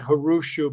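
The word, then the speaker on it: Грушів: global, it's the way they say it, Hrushu, but it doesn't look like anything like that phonetically in even English, never mind Cyrillic.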